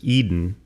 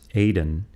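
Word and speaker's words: Edan: I read this as Eden. I think the name is actually pronounced Aden, E-D-A-N.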